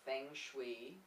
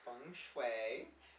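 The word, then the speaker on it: feng: g s h UI I know it's not Fang it's fun people try to convince me it's F but it's not so we thought that we would start with a simple little funu quiz I'm going to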